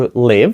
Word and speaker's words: live: Live означає жити скажіть тут важливою є вимова тому що якщо ви скажете Le тобто ЗМІ м і це вже покидати залишати якесь місце а от воно звучить ближче до нашої е - це жити Отже скажіть жити Live